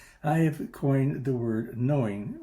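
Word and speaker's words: gnowing: have coined the word knowing is spelled g-n-o-w-i-n-g not k-n-o-w-i-n-g some would call this a rather esoteric or affected utterance but i prefer to think of it simply as a way of expressing the truth of the matter as a practice as a practical matter we know and no begin with both a silent letter but i like g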